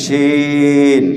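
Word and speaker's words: ش: তালিব বসো ঠিক আরবিতে শিন শিন শিন শিন এটাও জিহ্বা ব্যবহার হয় জিহ্বার মধ্যখান তার বরাবর উপরের তালুর সাথে লাগাইয়া আমরা শিন উচ্চারণ করি শিন শিন শিন শিন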